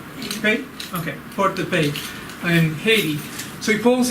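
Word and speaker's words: Port-de-Paix: They have to pull in to port, and I don't know how you say port, P-A-I-X. Somebody help me with pronunciation. Hey. Okay? Okay, Port de Paix in Haiti.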